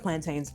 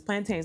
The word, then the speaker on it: plantains: I love plantains. My husband makes fun of me because I don't say it right. It's plantains, not plantain.